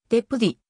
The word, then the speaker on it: ジェパディ: 作成された正しい発音はでプリであるが日本ではジョパディぜをパリなどと表記されている例もあるもともとは 1964